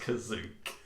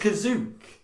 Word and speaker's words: Kashyyyk: he says citizens of kazuk listen here and it was like oh my god so in the in the holiday special kashyyyk is actually pronounced kazuk that was literally the